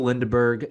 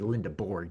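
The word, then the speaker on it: Lendeborg: Yaxel Lindeberg, an All-American, excuse me, Lindeborg, did not mean to mispronounce that, but a likely All-American candidate for Michigan.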